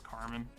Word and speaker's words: Carmine: It's spelled Carmine, but I think it's Carmen.